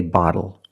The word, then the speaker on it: bottle: When you see TLE or TTLE, phonetically the T is between vowels. And for this reason, the T changes to a fast D in American pronunciation. That's why we do not say little, we say little. And we do not say bottle, we say bottle. So this is a little bottle.